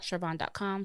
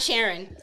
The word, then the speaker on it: Sharvon: AKA not Sharon. Spell it out for people because Yes, people are gonna think it's Sharon.